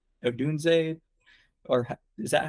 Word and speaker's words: Odunze: a great starting six, and I do like Odunze, or is that how you say it? Yeah, Odunze, you're right.